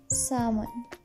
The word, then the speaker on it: salmon: pronunciation rule number five if m is coming after L then L will go silent arms Palm C bomb almond salmon thank you so much